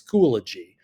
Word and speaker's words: Schoology: A lot of people, for some reason, I think our eyes and our brains trick us into thinking that there's more syllables there than there really is. It's Schoology.